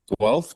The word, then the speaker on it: Guelph: How do you spell that? But Guelph, Guelph.